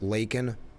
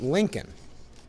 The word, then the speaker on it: Laken: He also mispronounced Laken Riley, but the mainstream media is not mentioning that he pronounced it Lincoln Riley.